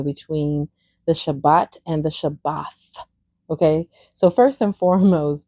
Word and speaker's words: Shabbat: Most people say Shabbat, but it's actually Shabath.